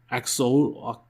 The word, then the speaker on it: Axolotl: I don't know how to pronounce his name correctly. AXOLOTL.